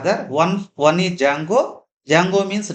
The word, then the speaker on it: Django: Django means Django. There D is silent.